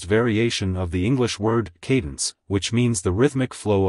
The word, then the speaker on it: Kadence: is an Americanized variation of the English word Cadence which means the rhythmic flow of a sequence of sounds it's pronounced as Cadence Cadence Cadence to pronounce it correctly emphasize the KY